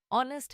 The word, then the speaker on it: honest: For example, knife has silent k, honest has silent h, and climb has silent b.